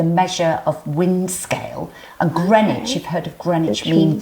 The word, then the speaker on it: Greenwich: then we have now I always struggle to pronounce is this Greenwich I'm like green witch so you know we've